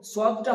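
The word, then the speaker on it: صاد: তারপরে আছে সদ, সদ উচ্চারণ করার সময় আমরা খেয়াল রাখবো সদটা হবে মাড়ির দাঁতের সঙ্গে জিভের একটা কিনারা লাগিয়ে দিতে হবে। আপনি প্রথমে জিভের কিনারাটা মাড়ির দাঁতের সঙ্গে লাগিয়ে দিয়ে যেভাবে উচ্চারিত হবে সেভাবে বলুন সদ, সদ। এভাবে উচ্চারণ, আপনি যদি জিভেটা দাঁতের মাড়ির সঙ্গে লাগিয়ে দেন তাহলে আপনি অটোমেটিক দেখবেন সেটা পরিপূর্ণ এবং সহিভাবে উচ্চারিত হয়ে যাবে সদ।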